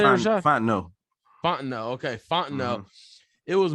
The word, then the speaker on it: Fontenot: Fontenot.